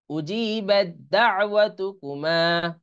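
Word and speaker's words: أُجِيبَت دَّعْوَتُكُمَا: দাল আইন জবর দা, এই তাটা উচ্চারণে আসবে না। উজি বাদ দা, ওয়াত, ওয়াও জবর ওয়া, তা পেশ তু, কাফ পেশ কু, মিম আলিফ জবর মা, উজিবাত দাওয়াতুকুমা, উজিবাত দাওয়াতুকুমা, এটা এর সাথে মিলিয়ে, হ্যাঁ।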